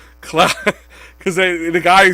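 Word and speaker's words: Claude Giroux: all these press conferences i feel like i've been saying it wrong it's cloud cloud because the guy who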